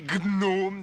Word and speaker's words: gnome: Tout d'abord, si tu étais un gnome, tu saurais que le G de gnom se prononce. On dit gnome.